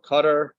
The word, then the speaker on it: Qatar: the World Cups in Qatar or Qatar is the proper way to pronounce it I like how everyone's